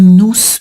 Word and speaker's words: nous: entendu quelque chose qui nous parle. Et là, ouais, t'as pas besoin, on fait pas de liaison parce que nous parle, tu vois, P consonne. Donc là, je prononce pas le S de nous.